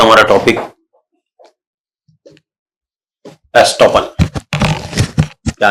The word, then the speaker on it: estop: ये जो शब्द है ये फ्रेंच वर्ड एस्टॉप से बना है। ESTOP, ई, एस्टॉप। उसको अंग्रेजी में कह दिया जाता है स्टॉप, लेकिन प्रोनाउंसिएशन आप आ रही है, देखिए स्टॉप, एस्टॉप, ई की आवाज आ रही है, लेकिन अगर ये इसको